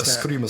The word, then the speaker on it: Eskrima: Eskrima sticks.